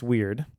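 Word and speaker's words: wyrd: And it is pronounced weird.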